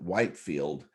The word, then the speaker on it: Whitefield: this is where um george whitefield they they pronounced it whitefield was buried they were doing